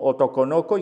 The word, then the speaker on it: otokonoko: el grafismo en japonés también pronunciado como otokonoko y que significa niño